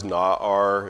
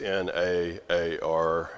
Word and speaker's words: na'ar: The word is na'ar, if you're curious. N-A-A-R is how you would spell it in English, na'ar.